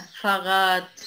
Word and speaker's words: Fahrrad: Fahrrad Fahrrad نطق تي.